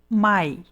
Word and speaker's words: my: Depende da pronúncia então Se nós formos procurar a pronúncia desta palavra no dicionário é assim que vai aparecer my my Então esta palavra escrita com duas letras o m e o y na verdade ela possui o som do M da consoante m e o som do ditongo ai dentro do ditongo né